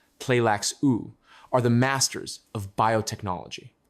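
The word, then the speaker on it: Tleilaxu: The Benet Pleax or Tleaku, pronounced pleax u are the masters of biotechnology.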